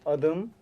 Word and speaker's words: adım: So- So how to say my name is My name is Benim adım My name. Adam. Kamera. there's- Adam and me? Adım. Adam. Adam. Oh, Adam and Adam is different, eh?